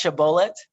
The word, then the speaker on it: shibboleth: So no, you say it wrong. So that's I the know, but it's pronounced shibboleth.